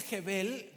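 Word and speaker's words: הֶבֶל: una palabra en hebreo que significa, que se pronuncia Jebel, pero significa literalmente vapor.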